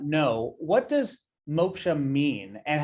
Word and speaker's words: Moksha: So for those who may not know, what does Moksha mean and how does it relate to what you do? Well, thank you for pronouncing it correctly. Usually, typically it's Maksha.